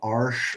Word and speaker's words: Arches: So this is done on a French paper called Arche oil paper, and if you saw it and pronounced it like in English, you would say arches, Mhm.